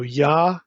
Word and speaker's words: Yah: in the Hebrew Bible you have a short form of the Divine name just the first syllable YH and it's always with an a vow yah always so yah we instead of Y